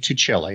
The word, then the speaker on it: Tuccille: about yourself sure enough my name is tuccelli I'm a contributing editor at reason magazine um